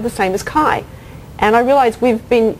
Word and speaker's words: CHAI: Judy is a principal of what she pronounces as CHAI, the Computer Human Adaptive Interaction Group, which does basic and applied research in personalization and in ubiquitous computing applications.